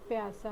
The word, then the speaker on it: प्यासा: देख रहे हैं, ये बाघ बहुत प्यासा है और यह पानी पी रहा है ना? तो आइए इस शब्द का उच्चारण करना पहले हम सीखें। प या सा, प्यासा।